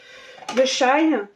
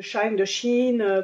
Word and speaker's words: Shein: Il provient de Shein, de Shein, comme vous voulez pour la prononciation.